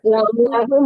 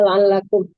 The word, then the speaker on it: لعلهم: للناس لعلكم يتقون ولا La'allahum bunda, bukan la'allahum. La'allahum, bunda bacanya la'allakum.